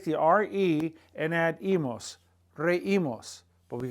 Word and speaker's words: reímos: RE and add imos, reímos. But we got to put an accent mark on the I so that so that the EI doesn't form 1 sound, reímos. It maintains the 2 sounds, reímos, reímos.